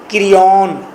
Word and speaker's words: Creon: उसके नीचे लिखें नेक्स्ट करेक्टर, ये फोर्थ करेक्टर आपका है क्रियॉन। क्रियॉन के स्पेलिंग है CREON, क्रियॉन, CREON, क्रियॉन।